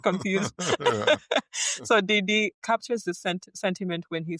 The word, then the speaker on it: Didi: And you say your nephew, Didi, I don't want to pronounce it like the rapper. Yeah. Didi. Then just say Didi. Didi.